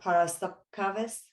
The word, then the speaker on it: Paraskeva: i even you know i had to make sure i had the correct pronunciation uh part of par para sub caves is that yeah okay so it's like